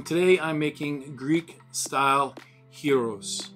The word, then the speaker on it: gyros: the butcher um today i'm making greek style heroes not gyros not gyros it's pronounced hero the g uh y is sort